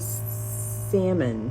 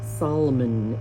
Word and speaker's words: salmon: So, I used the purple, the coral, the fuchsia, the magenta, and the salmon or Solomon if you like to pronounce silent letters.